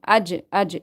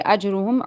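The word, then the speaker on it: أجرهم: You see, qalqala you need to do here because jim is from haruf qalqala and it is silent. When the qalqala, the word of qalqalas are silent, what do is we do qalqala there. We make a bouncing sound.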